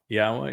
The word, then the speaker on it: Yahowah: Yahowah is the Almighty's proper designation, pronounced as instructed in his Torah, which he's writing inside of us.